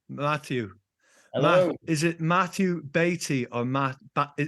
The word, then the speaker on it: Baty: hello is it Matthew Beatty or Matt is it Matthew Beatty or batty it's Betty I was I was